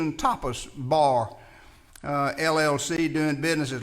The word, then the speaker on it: tapas: So as I say, it's hard for me to pronounce tapas and not you to think topless.